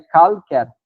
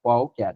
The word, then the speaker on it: qualquer: No caso do qualquer ali, o U é pronunciado, senão seria calquer, calquer, mas é qualquer, então falso, o que nos traz como gabarito.